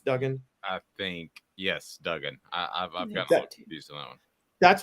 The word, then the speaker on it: Duggan: and Max is it Duggan is how you pronounce his name right not Dugan It's Duggan I think yes Duggan that's where the Bryce